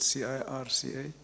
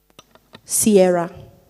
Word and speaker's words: circa: Sorry, what is, I think you said, how did you pronounce that word, C-I-R-C-A? Sierra.